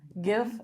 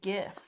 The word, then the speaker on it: GIF: something or other so the word that it comes from is a g sound but I know the other side of the argument too I've never heard it say GIF the other side of